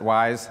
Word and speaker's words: ys: interpreter is called Ys I pronounce it wise sometimes and I have a